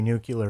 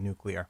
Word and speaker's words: nuclear: but I've always said nuclear I disagree I think there is only one correct one which is is like a new new as in the world new and then clear as in see-through so that's that's the